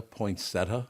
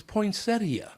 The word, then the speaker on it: poinsettia: Do people really pronounce poinsettia? Poinsetta. Yeah, poinsetta. That's how I heard it for the first 20 years of my life. It's poinsettia.